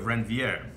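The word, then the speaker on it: Ranvier: That's called a node of Renvier. I like to put like a French accent on it. You can pronounce it any way you wish.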